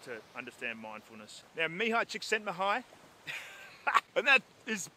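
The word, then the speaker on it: Mihaly Csikszentmihalyi: to understand mindfulness there Mihai chicks send the hi and that is not pronounced anything like it is spelt which is confusing and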